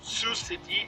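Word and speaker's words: Sioux City: Falls with like the lettering but it is pronounced Sous City and su falls yeah so that is I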